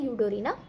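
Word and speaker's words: Eudorina: यू डी ओ आर आई एन एस की spelling होती है यूडोरीना देन लास्ट इज अ उ गेमस उ गेमस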